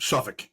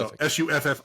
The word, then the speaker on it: Suffolk: Suffolk. Yep. So Suffolk. Suffolk, but basically don't pronounce a K.